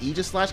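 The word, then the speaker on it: Aegislash: of doubling and Egypt ages slash please like Aegis slash because I know that's the correct pronunciation but ah but uh anyway so I'm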